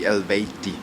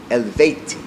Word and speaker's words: Eluveitie: pronounced it right yeah pretty much the correct pronunciation actually elti elti elti so you were a c to nice